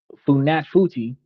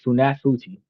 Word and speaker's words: Funafuti: So, Funafuti, I'm going to try to say it right at some point. Funafuti, uh the capital of Tuvalu, where most people